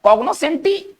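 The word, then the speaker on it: cognoscenti: इसका हम उच्चारण करेंगे कॉग्नोसेंटी। और ये एक इटालियन वर्ड है।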